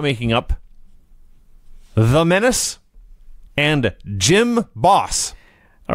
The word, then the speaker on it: Jim Boss: No, Jim Boss. Jim Boss. Like, you go to the gym.